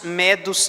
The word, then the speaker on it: medo: Somos partos, medos, e aqui só uma observação, a pronúncia certa aqui é medo, que vem da Média, o império que sucedeu, o império babilônico, o império medo-persa. Então aqui não são os medos ou os medrosos, são os medos mesmo.